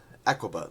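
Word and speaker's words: Aqaba: Aquaba. There we go. I pronounced it right.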